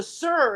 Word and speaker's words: ser: just be my oh the sir is not s-i-r they write s-e-r like why why you're pronouncing it the same way it's the same type